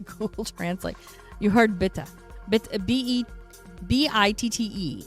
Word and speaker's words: bitte: B-I-T-T-E is pronounced bitte, means please.